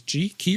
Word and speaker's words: Qi: Qi is key or Qi. The Qi chargers are QI. And QI is actually pronounced Qi, just like X is pronounced 10.